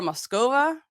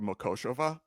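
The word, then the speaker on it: Mokošová: Barbara Muscova, 28. I'll do this one because it's Barbara Makoshova. But I was close. You were close. You just inverted one syllable.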